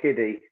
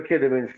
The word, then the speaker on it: Kidderminster: yeah, I mean, listen, for little old kiddie, that's said it wrong. For Kidderminster start picking up a draw